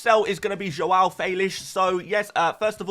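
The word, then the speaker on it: João Félix: is going to be Joelle felish so yes uh first of all yes that is how you say his name don't blame me blame the Portuguese but despite the good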